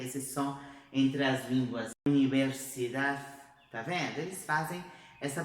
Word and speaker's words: universidad: Universidad, universidad, viu? Então tem que bater lá atrás dos dentes, mas a gente não vai fazer a pronúncia dessa letra, tá?